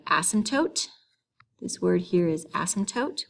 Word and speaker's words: asymptote: this word here is asymptote we don't really pronounce the p in that word an asymptote is a